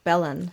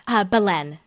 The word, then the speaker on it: Belen: I was curious about Danielle Belen. How does she pronounce her name? Belen.